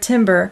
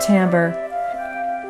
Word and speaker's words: timbre: is an interesting word it looks like the word Timber but it's pronounced Timbre Timbre is the characteristic